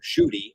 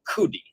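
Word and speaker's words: Judi: highest land mass and in Arabic it's Mount Judy or Mount kudi that's how they pronounce it which is actually a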